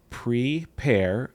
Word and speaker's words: Pre-Pair: So it's PRE-PAIR. So pre and the word pear as in like a pear of fruit.